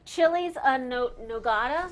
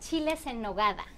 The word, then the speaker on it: chiles en nogada: Pronounce it for me. Sure. They are called chiles en nogada.